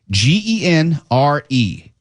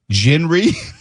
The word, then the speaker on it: genre: G E N R E. Genre. That's what we all say, but some people I guess say it gener.